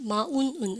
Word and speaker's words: mountain: 튼인데 미국에도 어떻게 하면 튼입니까? 은입니까? 힘주면서 쌤이 우리 화장실 갔을 때 소리처럼 이렇게 한다 그랬어요. 발음을 갖다 써서 그죠? 미국식 읽어보세요. 뭐라고 쓰면 mountain. 이거 진짜 귀엽다. mountain 이러네. 대박인데 mountain 그러니까 이러면 안 된다고 은을 힘을 줘야 돼.